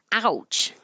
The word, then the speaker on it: ouch: Ouch. I use this word as an example of teaching the ow vowel a lot because most people can easily recognize ow, ouch.